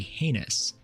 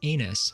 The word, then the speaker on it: heinous: A slow or weak recruit is said to be heinous, which many recruits and in fact drill instructors have misheard and will continue to mispronounce as anus for their entire career.